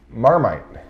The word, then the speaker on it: Marmite: try this guy over here how would you pronounce that marmite you nailed it they have this in australia